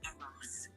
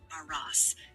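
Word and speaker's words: Arras: The second battle is commonly pronounced aras with the emphasis on the first syllable and a soft s at the end. Kind of like aras.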